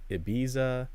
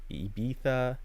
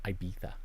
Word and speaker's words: Ibiza: go to like uh depending on how you want to pronounce it Ibiza Ibiza Ibiza because there are some people who are douchey enough to say I beat that um yeah it there